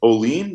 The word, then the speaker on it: Olean: to say the name pronounced like olean new york right up